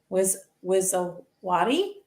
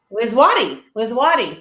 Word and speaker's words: Wizawati: Now, I would like to introduce you to Janet Wizawati. Did I pronounce that right, Dorothy? Wizwati.